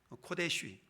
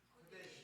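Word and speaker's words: קֹדֶשׁ: 코데쉬 코데시 예 코데쉬라는 코데시라는 단어인데요.이 코데시 거룩함 거룩하게 하다라는 동사 어 카다시 코데시 카데시 뭐 다양한 발음들이 있는데요.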